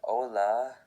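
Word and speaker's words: hola: like in jalapeno and letter H is always silent when and written at the beginning of a word as in ola which simply means hello.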